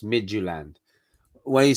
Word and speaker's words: Midtjylland: and cynthia said it it's pronounced midgeland why do you say